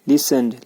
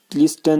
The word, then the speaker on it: listened: उसके बाद हमारा है लिसन्ड, लिसन में टी साइलेंट है। लिसन्ड, लिस्टन नहीं, लिसन्ड।